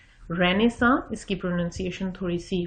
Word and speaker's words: Renaissance: رینیساں، اس کی پروننسیشن تھوڑی سی فرق ہے، غور سے دیکھ لیجئے اسپیلنگ.